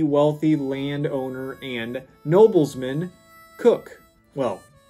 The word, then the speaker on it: Coke: name of the wealthy land owner and noblesman cook well spelled Coke but it pronounced cook and he actually commissioned lock in